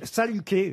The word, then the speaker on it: Saluquet: oui, il fallait pas prononcer le L, mais il y a un L. Hein, Ah bon? oui, J'ai toujours cru que c'était ça. Quoi. Non, Ah oui, c'est moi aussi. Saluquet.